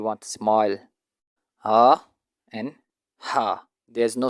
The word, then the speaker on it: ح: Ha sound is pronounced from the middle of the throat, like the wind blowing through a pipe.